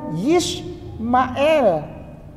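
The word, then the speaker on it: ישמעאל: Ini bacanya Yishmael.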